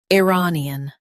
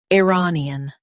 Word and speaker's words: Iranian: Iranian Now read the syllables shown on the screen naturally. i ra ni an Iranian Stress ra and keep ni an soft.